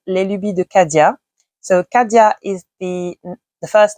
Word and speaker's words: Les Lubies de Cadia: put here because I'm going to pronounce this in French, is Les Lubies de Cadia.